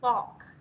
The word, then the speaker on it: fork: Đúng rồi, fork. Cái này đọc là fork. Đấy. Đấy, âm o dài này.